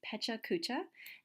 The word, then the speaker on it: Pecha Kucha: it is a little bit more it's again pronounced Pecha Kucha and it's a Japanese word for chit chat